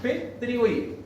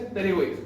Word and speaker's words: pterigoideo: Cuando lo escriban, se escribe con una P adelante y se pronuncian como P pterigoideo. Pero se dice pterigoideo.